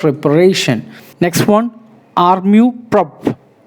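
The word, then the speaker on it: amour-propre: Next one, armu prop. Armu, R is silent, prop, R-E is silent.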